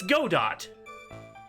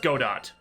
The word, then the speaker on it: Godot: It's Godot. You can't tell me that that is not pronounced Godot.